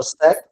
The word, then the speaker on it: sac: mon sac, এটা je mets mon sac, sac হবে এটা? Je mets mon sac. Sac. Bag. এটা সি উচ্চারণ হবে, ক উচ্চারণ হবে আর কি।